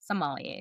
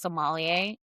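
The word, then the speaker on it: sommelier: Somalier. Le similar. What do they call them? The actual pronunciation is somalier, but everybody says Somalia.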